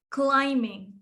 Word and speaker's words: climbing: Silent B na. Rock climbing. Climbing.